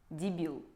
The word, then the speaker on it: дебил: На русском оно, правда, звучит немного по-другому (ударение падает на второй слог - дебИл), но тем не менее так тоже можно сказать про человека.